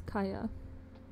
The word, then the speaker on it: Kaia: people do call me, and it's Kaya. Kaya. It's spelled Kaia.